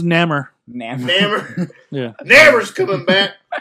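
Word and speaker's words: Namor: Neymore.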